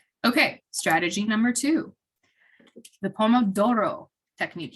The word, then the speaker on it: Pomodoro: strategy number two the poem of Doro technique you have to say it like in Italian because that's the Pomodoro is the Italian word for tomato apparently which I also